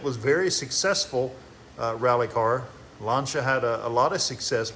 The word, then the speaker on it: Lancia: As a kid, I called it Lancia, but after watching an episode of Jay Leno's Garage, they pronounced it Lancia.